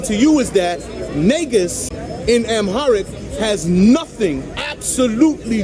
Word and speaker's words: negus: Now, because that little white boy on that YouTube video was not properly pronouncing an Amharic word, which is niggas, right? Not niggas. That's even better. Wait, time out. Not niggas, negus, right?